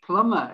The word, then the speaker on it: plumber: it's a silent b plumber if you used to spell it p l u m or w m e r you would literally pronounce it like that plummer the b isn't pronounced at all and then the next